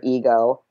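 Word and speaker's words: Egheaux: project going called Alter Ego. Alter as in the altar you worship at, and ego spelled like E-G-H-E-A-U-X, which basically would be like an ego ho.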